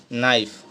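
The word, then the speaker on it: knife: कि यह लिखा है के एन आई एफ ई नाइफ इसमें जो है के साइलेंट है तो कौन से वर्ड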